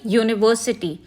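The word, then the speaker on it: university: similarly similarly यूनिवर्सिटी आप कहोगे कि यह तो यू से स्टार्ट हो रहा है बट ये एक्चुअली साउंड क्या प्रोड्यूस कर रहा है य राइट यूनिकॉर्न यू यू हम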